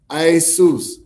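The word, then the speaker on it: Ἰησοῦς: In the Greek, it's pronounced Isus, right?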